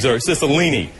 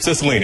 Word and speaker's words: Cicilline: Cicilline. It's easier to... They put a pronouncer up there, threw me off. Cicilline, how you doing, sir, from Providence, Rhode Island.